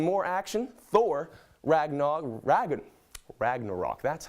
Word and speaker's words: Ragnarok: out onto some more action Thor Ragnar raggin Ragnarok that's how you say it guys was released